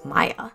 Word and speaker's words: Maia: an issue with Maya if I've been saying Mia I'm very sorry her name is spelled m-a-i-a and for some reason I want to say It's Mia but I know it's Maya some people think that